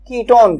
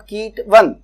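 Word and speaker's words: ketone: यदि इसका सफिक्स लिखें तो इसका सफिक्स होता है ONE, पर वन नहीं, ऑन प्रोनाउंस करते हैं, कीटोन, नॉट कीट वन, ऐसे नहीं, कीटोन। तो कीटोन प्रोनाउंस करेंगे ONE को ऑन।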